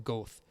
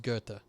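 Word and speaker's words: Goethe: that one impact like i used to call them goth before i knew it was gurta but uh i don't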